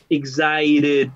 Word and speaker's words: excited: Recuerde que la T la pueden pronunciar, ¿cierto? Con una T fuerte, como en el británico, o en el inglés americano se tiende a suavizar esta T, ¿cierto? Excited, suena como una RR, como una RR, ¿cierto? Excited, right? Ustedes escogen cómo lo pronuncian, ¿ya?